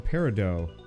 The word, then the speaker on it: peridot: not care about spaces the tian peridot is silent it's a peridot really huh it doesn't